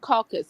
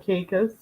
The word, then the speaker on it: Caicos: Turk and Caucasus. Is that how you say it? Turks and Caicos.